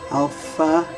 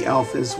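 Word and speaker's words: άλφα: of a strict f where we put our lower lip with our upper teeth alpha we you would uh actually blow through your lips and then the last day will not be a schwa and as in english so both both of the uh a's or both of the alphas will have the ah sound alpha and then the letter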